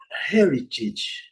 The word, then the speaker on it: heritage: Eh, heritage, heritage, heritage, o a com som de de i.